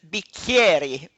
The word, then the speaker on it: Bicchieri: your last name okay in Italy we don't have the K and so CH is sometimes pronounced SK so my last name is B Carrie okay thank you for